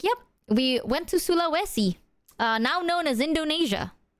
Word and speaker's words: Sulawesi: uh we went to this place called uh Suluesi I think they they didn't even pronounce it as Sulawai.